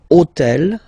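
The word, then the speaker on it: hôtel: right and third example so I took on purpose this otel okay because it starts with Ash but remember that in French we don't pronounce Ash okay so basically the first sound of the word is the vowel O Okay so for the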